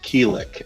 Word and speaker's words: Quilic: the routine yet but my GM name is pronounced keel ik as an oligarchy I'm trying to help you